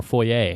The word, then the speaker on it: foyer: front door Kevin Kevin pronounced either foyer or foyer correct why did it